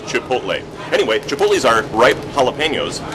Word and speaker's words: Chipotle: way of speaking because in the midwest We cannot put a t before an L at the end of a word you'll find that everyone pronounces this Chipotle the tea comes first it's like Etc it's Etc you got to put the tea first here we put the tea first Chipotle anyway pulley are ripe